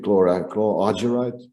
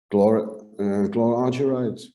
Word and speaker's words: chlorargyrite: I don't know exactly how you pronounce it in English, but I would say chlorargyrite.